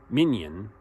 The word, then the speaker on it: minyan: Minyan, now it's not like minions, the little yellow creatures.